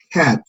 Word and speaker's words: cat: Esta palabra de acá, esta es la que suena como entre la A y la E, entre la E y la A. Y para pronunciarla tenemos que estirar nuestros labios lateralmente, decir cat, cat, cat, Cat.